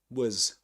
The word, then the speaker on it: was: And um yeah, she was laughing and in the word was actually this is pronounced as was was she was was was with a schwa sound.